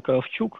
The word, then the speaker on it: Кравчук: В 12 часов доклад Михаила Кравчука, именно Кравчук, оказывается, его фамилия произносится, и Энгсви Йоха.